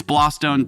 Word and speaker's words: Blawstone: Yes, he said it wrong. It's Blawstone too, cause this is my sibling. Sibling.